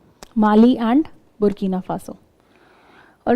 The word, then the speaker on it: Burkina Faso: If you see Mali ke just niche you have the Burkina Faso border.